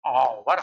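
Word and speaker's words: hour: हैं तो हम लोग आवर पढ़ते हैं आवर ये देखो आवर तो आवर तो यहां से ये हो गया एच साइलेंट और ओ से उच्चारण ले लिया इसलिए आवर हो गया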